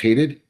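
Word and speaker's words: Hadied: And it's it's pronounced Hadid.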